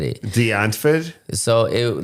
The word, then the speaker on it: Die Antwoord: This man's got to say shit the proper way in Die Antwoord. Deutsch. Yeah. Die Antwoord is how you say it.